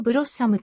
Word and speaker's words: Blosxom: して動作する発音は英語のブロッサムと同じ BSD スタイルのライセンスで配布されているブロスコサムは単純で小さな